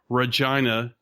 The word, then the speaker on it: Regina: I was on Brainstorm Podcast, which is a Canadian outfit out of Regina, which is the best city name ever. Yeah, it rhymes with vagina, the weirdest way.